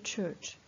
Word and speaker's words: church: pour la prononciation de Church ça se prononce ça s'écrit avec un C et un H qu'on pourrait prononcer mais ça se prononce cher un peu comme le chat le Chatt le chat